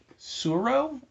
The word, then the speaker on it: Tsuro: The first one is called Tsuro, I think. I assume the T is silent.